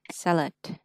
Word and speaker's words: salad: Mình đọc là salad. Salad. Salad. Ừ, salad. Ngạc nhiên chưa? Phiên âm là ơ, nhưng đọc là ê.